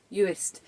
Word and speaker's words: Uist: Uist. Uist the worst. That's how I'm remembering it.